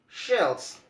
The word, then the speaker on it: shells: And then shells, shells, it's coming like a blower.